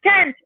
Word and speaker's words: can't: Escuchamos esa al final. Tiene que diferenciarse porque si decimos I can drive a car, va a sonar como que yo, I can, como que I can, pero no, sería I can't, okay, I can't drive a car. I can't. Tenemos que hacer bien fuerte esa pronunciación.